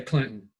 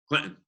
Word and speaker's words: Clinton: CLI nto in Massachusetts most people just say Clinton Clinton yeah they don't pronounce it phonetically so you went on